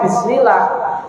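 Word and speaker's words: بسم الله: Nah, nanti di dalam tatbiknya, di dalam prakteknya pengucapan contoh bismillah. Oh, sin ini langsung diingat-ingat. Oh, mengalir. Berarti ketika bismillah dialirkan dong sinnya.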